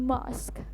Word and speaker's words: mosque: ya, kaidah bahasa Inggris, yaitu dibacanya mosque dengan huruf vokal O yang tidak terlalu bulat tapi sedikit samar aja ke vokal A atau ke huruf vokal A. Jadi mosque, jadi nggak terlalu bulat gitu O-nya.